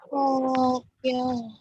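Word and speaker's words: 東京: Tokyo. Nah sekarang kita udah belajar, kita tahu bahwa Tokyo itu tidak diucapkan pendek. Dia sebenarnya diucapkan panjang.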